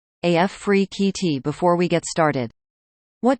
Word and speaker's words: Afrekete: from home customer service Africa at work from home jobs pronounced AF free QT before we get started